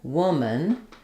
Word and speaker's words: woman: Woman, notice how it's just like a word like human or person. I'm not saying human. I'm saying human. I have a reduced vowel there. The a basically makes no vowel. The dictionary is going to show it as w with awah, but that schwah is very short and reduced. You can basically go right from the m to the n.